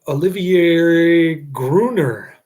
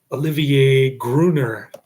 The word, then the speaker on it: Olivier Gruner: It's got Olivier Gruner. I finally pronounced his name correctly.